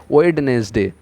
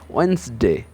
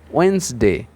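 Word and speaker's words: Wednesday: এস ডি এ ওয়াইটা আমরা বাঙালিরা বেশিরভাগ সময় উচ্চারণ করে ফেলি ওয়েডনেসডে কিন্তু এর সঠিক উচ্চারণটা হচ্ছে ওয়েনসডে ওয়েনসডে ওয়েনসডে এই যে ডি টা আছে এই যে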